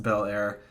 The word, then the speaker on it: Bel Air: Just to correct some pronunciation errors, the name of this town is Bel Air, pronounced Bel Air. I know that it looks weird, but the E is silent. Don't ask me why.